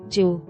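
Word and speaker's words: 十: Converting jifu to the modern kana usage, it becomes jiu. While written as jiu in kana, from the medieval period onward, when reading it aloud, it underwent a change and became pronounced as ju.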